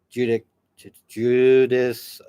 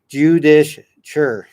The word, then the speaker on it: judicature: a superior court of judice. Sorry if I butchered that. No, it's not judicial. It's judicature in 1693, both held in Salem town, where the hangings also took place.